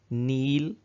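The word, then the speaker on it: kneel: नील, इसमें के साइलेंट है, नील झुकना या झुक जाना, नेल्ट नेल्ट, नील नेल्ट नेल्ट।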